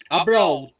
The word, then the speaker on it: abroad: spelling please adverb yeah abroad abroad abroad listen to carefully abroad abroad abroad say again abroad and that is a D sound not a bra a broad abroad yes abroad once again